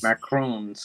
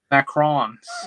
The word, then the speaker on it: macarons: And Macaroons. Yeah. Wait, what'd you call them? Macarons. Okay, that's how you pronounce it.